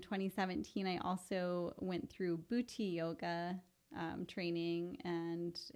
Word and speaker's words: Bhuti: And then in 2017, I also went through Bhuti yoga training, and it's spelled Buti.